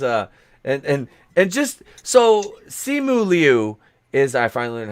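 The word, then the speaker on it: Simu Liu: shang chi is uh and and just so simuli is i finally learned how to say his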